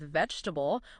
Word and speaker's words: vegetable: I remember a learner really struggling with vegetable, wanting to use a hard G like Spanish gente.